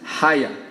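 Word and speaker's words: היה: palavra que em hebraico se estiver pronunciando certo fala-se Raia h a y a é a transliteração dessa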